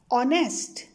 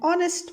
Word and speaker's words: honest: words sounds like are honest honor here h is silent so these words sounds like the words starting with the vowel so we use an for such words and are an honest man and honor special